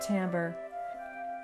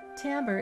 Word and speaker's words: timbre: is an interesting word it looks like the word timber but it's pronounced timbre timbre is the characteristic sound